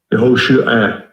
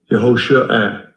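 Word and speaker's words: יהושע: 그 다음에 또 다른 식의 발음이 이게 뭐냐면 Yehoshua. Yehoshua.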